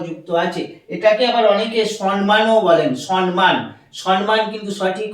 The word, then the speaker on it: সম্মান: সাথে ম যুক্ত আছে এটাকে আমরা কি বলি সম্মান আমরা এই ম টা উচ্চারণ করছি না এই ম টাকে ডবল